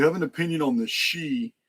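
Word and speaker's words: sidhe: of confused me because the word s-i-d-h-i is pronounced she it's old Irish and it concerns the race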